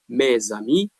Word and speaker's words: mes amis: When we read, we must pronounce z sound, which is not written.